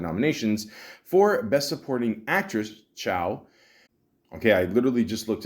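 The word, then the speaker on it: Chau: The film was also received Academy Award nominations for Best Supporting Actress, Chow. Okay, I literally just looked it up, and thank you, Google. Yes, it is pronounced Chow, so there you go.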